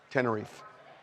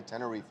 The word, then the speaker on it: Tenerife: I've always heard it as Tenerife, but I believe you that people there probably say Tenerife. Bullshit. It's Tenerife.